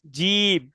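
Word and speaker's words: جيم: যে দেখেন, এটা হচ্ছে জিম, তাহলে জিমটা কি করে পড়তে হবে? শক্ত করে পড়তে শক্ত হবে। করে করতে হবে, হ্যাঁ, আচ্ছা, শক্ত করে পড়ার একটা সুন্দর নমুনা হচ্ছে, আমাদের বাতাসটা বের হবে না, মুখ থেকে বাতাসটা বের হবে না।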